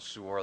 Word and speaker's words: Suor: It's spelled S as in Sam, U-O-R. In our house, we buy Suor cream.